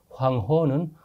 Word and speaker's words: 황허: 황허 문명은 황하 문명이라고도 합니다만 황허는 한자 발음을 중국어로 한 것입니다. 황허 이렇게 해요.